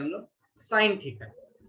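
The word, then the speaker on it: sine: कहते हैं हम लोग साइन थीटा। यहाँ ई जो है वो साइलेंट होता है।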